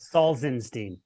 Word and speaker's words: Salzenstein: pronounce his uh his surname so it's and is that right got it right it's close it's soft and he goes can you give me a song so saulsenstein there we go this has been my favorite